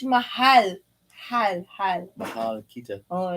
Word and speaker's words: mahal: No, maal. You gotta use the H. Mahal.